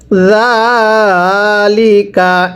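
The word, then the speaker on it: ذٰلِكَ: এরপরে আমার সাথে পড়বেন জাল খারা জবর জা, এই জালটা নরম করে উচ্চারণ করে পড়তে হবে। যদি হরফের উপর এরকম খারাপ চিহ্নটি থাকে, হরফটি এক আলিফ টেনে পড়তে হয়।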